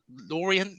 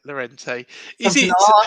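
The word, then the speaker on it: Laurienté: Atalanta match is it the law Laureate match the Orient they're not going to like me for schooling that um laurente that's it laurente I normally can't pronounce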